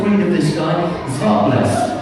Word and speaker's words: Zwartbles: of this guy is Zwartbles. Zwartbles. Okay. That's how they pronounce it in the Netherlands. That's how they pronounce it in the Netherlands. However, here in the UK, we're just calling this Warble, because that's pretty much